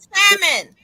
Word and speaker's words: salmon: The L and salmon. Like stuff like that grinds my gears. Or Illinois? Are you kidding me? We gotta respect the silent letters.